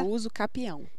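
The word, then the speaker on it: usucapião: Então, mas a pronúncia certa? É uso capião.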